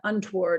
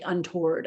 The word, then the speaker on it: untoward: word untoward right and i would pronounce that untoward i wouldn't say untoward i don't think so that pronunciation can